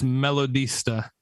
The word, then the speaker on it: Melodista: name over there damian it's melodista you spell it so it's like melody but after the d it's d-i-s-t-a melody sir usually i